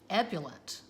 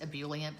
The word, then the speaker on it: ebullient: plants pee-wee's playhouse that intro is just so ebullent i know technically the word is supposed to be pronounced ebullient that just sounds stupid to me so i